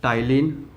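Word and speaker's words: ptyalin: silent होता है ठीक तो याद रखिएगा टायलिन ठीक तो इसमें पीस साइलेंट होता है तो ये तिल हो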